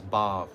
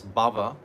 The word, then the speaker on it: bhav: The word is bhav. We say, what is it? Cheto dapana marjanam bhava mahadavagni. This bhava means material existence. But bhav means spiritual emotion. Doesn't have an accent on the A.